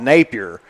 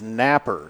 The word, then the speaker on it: Napper: I was instructed on how to pronounce the name on there. Of course, to us around here, we would probably call it Napier. But in Wayne, West Virginia, it is Napper.